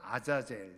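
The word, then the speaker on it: עזאזל: 그랬어요 아사를 위하여 그랬죠 아사셀 정확한 히브리어 바라보면 아자젤 이렇게 발음할 수 있는데 그 아이라고 하는 뜻이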